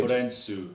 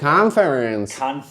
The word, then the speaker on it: カンファレンス: So first, コンフレンス。 right, literally thinking English how Americans say conference. Conference. カンファレンス。 Right, so Japanese did that as two A's.